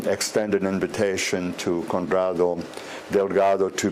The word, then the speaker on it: Delgado: Estoy muy contento de decirles que mi invitado Conrado Delgado, I pronounced it okay? Sí, Delgado.